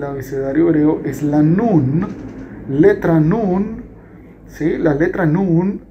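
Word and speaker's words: נון: hebreo es lanús letra nun sí las letras no un es la m sí letra n tampoco tiene dificultad en su pronunciación porque es como una n en español la letra nun también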